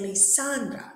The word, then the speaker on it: Lisandra: your name lisandra Le do we say lisandra lisandra or lisandra we say lisandra so the stress is in the middle one there's only one syllable